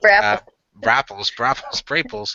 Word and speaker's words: Braples: We have Braples, and this one's going to be Braples. It's like apples, but with I know.